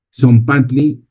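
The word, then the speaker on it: tzompantli: Son panty lo pronuncias así y quiere decir el la hilera de las calaveras.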